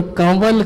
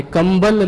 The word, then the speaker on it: कंवल: की संज्ञा दी और कंवल कहा है, कंबल नहीं है। लेकिन चूंकि आज से लगभग 50 साल पहले तक भी व को ब उच्चारण किया जाता था, आज भी आप मध्य प्रदेश में या पन्ना की तरफ जाएंगे तो व के स्थान पर ब का उच्चारण किया जाता है, तो कंबल के स्थान पर कंबल हो गया है।